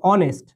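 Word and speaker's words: honest: যেমন আমি যদি তোমাকে বলি, খেয়াল করো, যে অনেস্ট, সো এখানে তো আমাদের এইচ আছে, তো আমরা কি এখানে এইচ উচ্চারণ করি? উচ্চারণ কিন্তু করি না।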